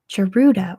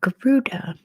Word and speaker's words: Garuda: how well you do charruda or Garuda I've heard it said both ways geruda is the national airline